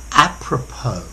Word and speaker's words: apropos: hi there students apropos notice the pronunciation this is a loanword from French apropos okay we can either